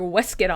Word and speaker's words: waistcoat: The OED does say in representations of vulgar pronunciation written Wescuit. Wes Ki T or Vescuit. Ves S Ki T.